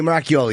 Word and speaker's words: Moracchioli: Moracchioli, you're right.